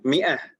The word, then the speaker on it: مائة: Ini kan aneh sebenarnya, ada tambahan alif tapi di sana bacanya mi'ah, kan begitu Ibu-ibu ya? Sebenarnya alif di sini bukan alif untuk tanda baca panjang.